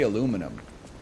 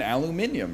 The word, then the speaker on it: aluminium: We say aluminum. But we should be saying aluminium, right? Like that's the way it's spelled.